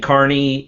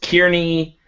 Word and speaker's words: Carney: Hey guys, also with Tabletop Terrors, and as you know, the last name Carney has been pronounced Kearney, Kearney.